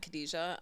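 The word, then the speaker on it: Cadja: name cadesa it's just cadesa um how do you spell that uh c a d ja but it's ca. D ja kind of to help you pronounce it out um like I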